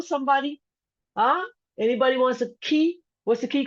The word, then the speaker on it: Cay: We pronounce it Key, like Key, but it's CAY.